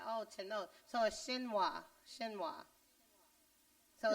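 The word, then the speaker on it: chinoise: right n-o-i-s-c is y shinwa okay so um spell the word again huh the word again n o i s e so apparently that's pronounced shinwa would you know looking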